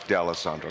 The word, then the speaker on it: D'Alessandro: And also from the Show and Tell Publishing, now make sure I pronounce it correctly, D'Alessandro? Let's just suffer. It's D'Alessandro. D'Alessandro, okay.